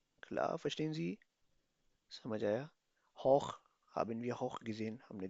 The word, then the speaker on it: hoch: Hoch haben wir hoch gesehen.